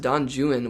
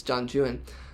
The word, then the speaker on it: Don Juan: I think it's pronounced Don Juan within the context of this because he he rhymes it with something like Owen. And so, we can infer that this the name is Don Juan.